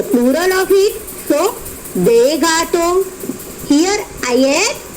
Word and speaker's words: gâteaux: Gâteau, des gâteaux, only pronunciation of the article are changed, okay. Otherwise pronunciation of the noun remains same.